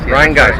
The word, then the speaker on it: Rhinegeist: geister Rion Rion guys Rhine guys that's a correct pronunciation all right I mean